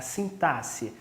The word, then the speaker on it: sintaxe: a gente chama de sintaxe a gente escreve com x mas pronuncia com um som de s Ok é a sintaxe essa área da gramática